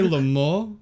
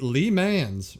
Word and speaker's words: Le Mans: You say Le Mans? Okay, listen. It's French. I see Lee Mans right there.